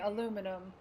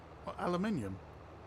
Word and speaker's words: aluminium: Jaden, you should hear how they say aluminum. I'm British. Aluminium. Aluminium. It's because it's spelt differently.